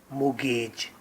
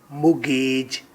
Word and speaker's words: mortgage: Topic: Mortgage. Right pronunciation is mortgage, ना के mortgage इसकी pronunciation है according to Oxford Dictionary.